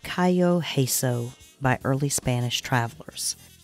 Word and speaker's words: cay: The English use Cay, C-A-Y, or K-A-Y, such as Cay Sal Banks. Cay is pronounced by Americans as the letter K, but by Englishmen as the word key.